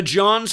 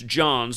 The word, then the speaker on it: Johns Hopkins: The Johns Hopkins University, and again, that's how they refer to it, with the in the front. If you spell that out, the Johns, and it's Johns, not John, the Johns Hopkins University, it's